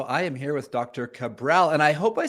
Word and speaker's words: Cabral: I didn't even ask you the correct pronunciation of your name, Doctor. How do you say it? That is correct. Yeah, Dr. Cabral. Cabral.